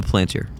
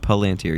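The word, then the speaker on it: palantír: The planter. The planter. Is that how you say it? Palanteer.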